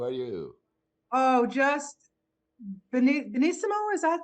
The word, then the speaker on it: benissimo: Oh, just benissimo. Is that how you say it Benissimo.